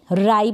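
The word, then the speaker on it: ripe: आर को र, आई और प, राइप बन गया, यानी ई को तो हम प्रोनाउंस करेंगे नहीं, तो राइप हो गया।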